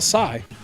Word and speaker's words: sai: course and nanaku and uh you have Raphael saigh yep what's it called SI I size how you spell that like or what s I thought it